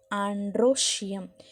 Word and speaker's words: androecium: The third part we called as an androecium. ANDROE. Okay, andro. Dro, how you want to pronounce? DROE. Okay, OE here pronounced as an O.